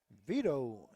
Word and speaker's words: Vito: Vito is the way you pronounce it.